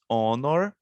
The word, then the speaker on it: honor: Então, honor, nós não estamos pronunciando o H, estamos pronunciando o O.